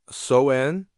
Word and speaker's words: Samhain: They called it sen, pronounced soen, and it was the night when the boundaries between the living and the dead dissolved like morning mist.